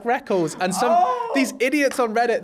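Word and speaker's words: Rekkles: me going, I like Reckles. And these idiots on Reddit, they're like, oh, actually, I got super worried. He said Reckles, and I'm like, dude, it's spelt like that.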